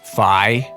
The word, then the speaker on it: Fi: subject Link's companion and guide fee uh isn't it pronounced fi shut up Youngtown and